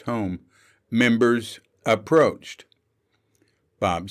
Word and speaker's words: HOOM: young clerically clad home h-o-o-m pronounced home members approached bob said